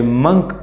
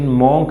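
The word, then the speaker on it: monk: And last में उसने देखा ए मंक, इसकी प्रोनाउंसिएशन मॉन्क नहीं है, मंक है।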